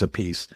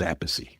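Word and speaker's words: Appice: You got the I was going to say the A piece brothers, but they have different pronunciations. One's a piece Vinnie and then Carmine. No, Carmine's a piece. Vinnie is Apey.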